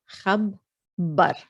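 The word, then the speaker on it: خبّر: And just be mindful that it's geminated on the ba. So that means you have actually two bas. So as if you're saying khab ba. So it's made of 4 letters over here. Khab bar.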